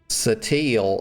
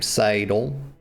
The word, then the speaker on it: Sadal: chafe my tolerances y'all they keep calling um this woman uh Satil and her name Sadal it's Sadal Sean okay